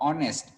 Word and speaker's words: honest: Again, same example, same explanation I will give, that here also you'll find that H will be silent. And when you people are going to pronounce, that will be aw. Sound will be aw, honest.